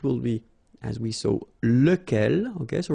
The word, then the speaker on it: lequel: be, as we saw, lequel. Okay, so remember, you've got to pronounce it lequel, even if you've got this QU. Okay, remember that this U phonetically doesn't exist, so lequel.